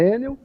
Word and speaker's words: Enel: Pois é, a pronúncia é Enel, né? Eu falo Enel, mas enfim, Enel, então.